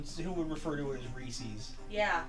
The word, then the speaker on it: Reese's: it's when people say reese's instead of reese's for reese's pieces because there's no see eh it rhymes Reese's Pieces it's not Reese's pcs yeah I'm so happy what